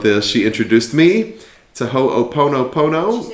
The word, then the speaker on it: Ho'oponopono: She introduced me to Ho'oponopono.